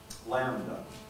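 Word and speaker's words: λ: on writing the letter lambda lambda that's the l sum so what do we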